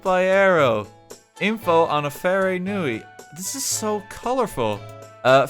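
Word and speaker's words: wharenui: do i house oh how do i pronounce that very new eye is it a it's an f sound is it built by arrow info on a fairy nui this is so colorful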